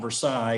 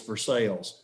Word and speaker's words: Versailles: Where I'm from, it's not Versailles, it's Versailles.